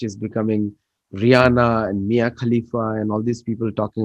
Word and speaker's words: Khalifa: Mia Kulfi. Something, Mia whatever. Khalifa. Same thing, same thing. Yeah, proper nouns. You can pronounce them anyway.